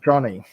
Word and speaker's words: Joni: johnny movie um yes i know it's spelt j-o-n-i but it's pronounced johnny just ask her um